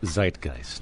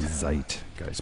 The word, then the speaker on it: Zeitgeist: the correct pronunciation uh Zeitgeist Zeitgeist because it's a German word and what does it